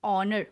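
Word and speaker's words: honour: उसी से मिलता जुलता एक और मैंने एग्जाम्पल दिया है जो कि है एन ऑनर। ऑनर means respect, an ऑनर, एच वापस से साइलेंट है।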